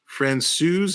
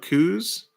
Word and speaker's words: Francouz: Francouz, not Coos.